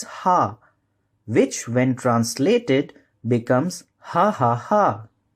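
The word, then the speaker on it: ห้า: that something is funny in the thai language five is pronounced as ha which when translated becomes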